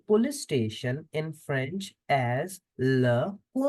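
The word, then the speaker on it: le commissariat: station in French as laar laar the T in the end is for decoration 2 s between two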